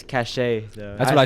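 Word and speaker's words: Caché: Kate said it's pronounced Cash. I don't know French. I mean, you took French, didn't you? I did. We didn't learn that word. I always thought it was cachet.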